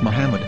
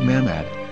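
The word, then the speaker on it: מחמד: According to Ben Yehuda's Hebrew English dictionary, it is correctly pronounced as Muhammad, not Mammad.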